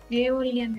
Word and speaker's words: Aeolian: Can anyone pronounce this? Aeolian erosion.